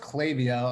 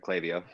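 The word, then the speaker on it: Klaviyo: so cla clavio right it's pronounced clavio unless i'm wrong dante that's right right yeah that's right clavio so basically if say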